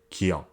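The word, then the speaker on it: 기역: So combined with iung, you can see that it just has the sound of ah, which is how you pronounce it. This consonant is called kiok.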